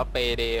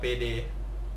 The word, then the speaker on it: PAYDAY: DAY 2 นะ ฮะ ต้อง อ่าน ว่า เปเด เว้ย ออ เปเด เออ เกม ปล้น ธนาคาร